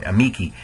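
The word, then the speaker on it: amici: if the if the the rule of accents is if the second to last syllable is long it gets the accent so in a Miki that second to last uh vowel e uh is long and so it gets the stress a meiki um my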